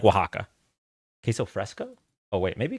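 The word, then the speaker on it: Oaxaca: Oatska. Oatsa. Not that orita. Which one is it? Oaxa. I can't pronounce that word.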